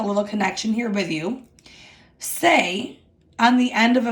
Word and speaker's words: se: SE is pronounced say.